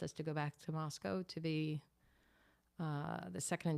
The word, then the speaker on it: Moscow: You've been saying Moscow, and I always say Moscow. So is the correct pronunciation is Moscow?